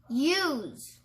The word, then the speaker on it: use: does up next is use and we're back to our vowel in this one the E make the U say its name and then the E is silent let's sound it out